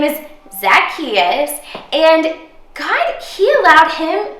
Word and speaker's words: Zacchaeus: that uh like this zacchaeus zack chachusa what no it's like zach just say it after me zacchaeus zackarecka dingdong all right now you're